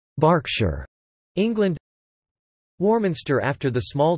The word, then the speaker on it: Berkshire: Pennsylvania Berks County after Berkshire pronounced Berkshire England Bristol and Bristol